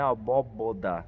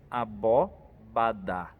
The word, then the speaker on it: abóbada: Então cuidado, não é abóboda, né? A gente precisa pensar bem na palavra, ensaiar bem ela para ela sair bem na hora da proclamação. Abóbada. Então pensemos cada pedaço dela para a gente pronunciar bem.